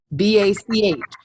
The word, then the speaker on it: Bach: B-A-C-H.